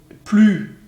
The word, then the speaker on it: plus: donc ici vous voyez comme il ya comparaison plus avec l'utilisation d'un adverbe derrière du coup vous prononcez pas le s moque là vous avez